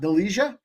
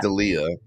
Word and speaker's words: Delija: Delija? Ante Delija. Yeah, I got it. Sorry, I actually think it's pronounced Delia.